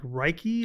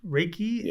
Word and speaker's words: Reiki: don't know how to say the word like Reichy Raiki, Raiki and sound therapy.